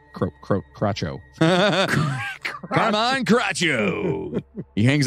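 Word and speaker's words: Crocco: and folk hero carmine croco i believe it might be crocho so cc in that uh the the sh sound no okay yeah whatever so we're gonna say crotcho come on crotcho he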